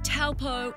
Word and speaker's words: Taupo: And it's an image of not only Taupo, but New Zealand that's been broadcast around the world. No matter if your pronunciation is Taupo or Taupo, this spectacular region will leave you breathless.